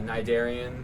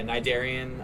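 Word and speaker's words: Cnidarian: Uh Nidarian. There's a C silent C in front of it. Um a lot of people can't pronounce it correctly. It's all right. But, um yeah, Nidarian.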